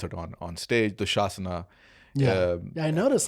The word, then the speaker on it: Dushasana: Duryodhan, Karn, Bhishma, Dushasan, or Dushasana. I mean, I should pronounce it the way we're going to pronounce it on stage. Dushasana.